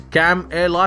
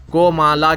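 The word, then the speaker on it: Kamala: ان command کے مطابق اس کا نام، جس کا مطلب ہے کمل کا پھول، کو مالا کے طور پر تلفظ کیا جاتا ہے، اوقاف کے نشان کی طرح۔ تاہم منگل کو NBA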